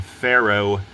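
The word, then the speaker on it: Faro: Not only that, but she died in Pharaoh, Portugal. Pharaoh, like an Egyptian pharaoh. And no, it's not spelled the same, but again, it's word play.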